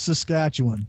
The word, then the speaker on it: Saskatchewan: Yeah, it's pronounced Saskatchewan.